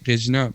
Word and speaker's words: Regina: I personally always said Regina because in French you say Regina, but when I heard that in English it's Regina.